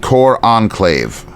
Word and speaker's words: cor anglais: McCartney is holding and again, how I don't know how I pronounced it, but a cor anglais, pronounced cor enclave.